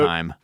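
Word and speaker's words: Haim: Um cuz I said H for years and I'm pretty sure it's him.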